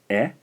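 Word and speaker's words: え: The fourth syllable in the vowel line here is pronounced E.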